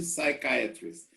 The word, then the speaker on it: psychiatrist: have a psychiatrist okay both have the same beginning side side okay we don't say science psychology psychiatrist and this word here